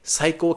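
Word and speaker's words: 最高: It kind of sounds like psycho like you know you're a psycho but it's actually completely different in Japanese it's you're the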